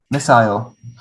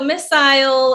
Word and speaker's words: missile: i've always heard it missile missile messiah you know i yeah so missile in the uk in the states we just say missile missile and it's the same